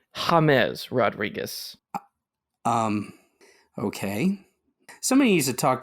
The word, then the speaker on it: James Rodríguez: James Rodríguez. Yeah, that is incorrect. Oh. It is actually James Rodríguez.